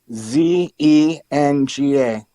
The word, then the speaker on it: Huizenga: And one Republican from Michigan, Bill Huizenga, I think, I'm not good with the pronunciation of his name. It's Huizenga.